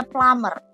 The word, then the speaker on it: plumber: WC disebut sebagai plummer tulisannya plumber Tapi bacanya Plumer u-nya dibaca a b-nya enggak dibaca nah Apa itu plamer